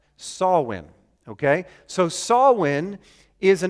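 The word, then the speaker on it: Samhain: a holiday an ancient Celtic holiday it's not pronounced Sam Hayne it's pronounced sawwin okay so saulin is an ancient Celtic holiday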